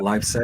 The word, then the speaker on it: Leipzig: Um, I know you're from, and I'm probably going to butcher the pronunciation here. I know you're from Leipzig. Yeah, Leipzig.